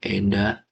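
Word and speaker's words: 枝: Oke guys kita lanjut ke nomor 3 Koen no Kino Eda, ini bacanya Eda ya, Eda artinya ranting.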